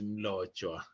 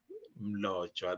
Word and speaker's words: Mlotshwa: So it is Mlotshwa. So Mlotshwa, that's how you say it. So you try and pronounce what you see. So that's what I always say. So if you see an M, try and sound it.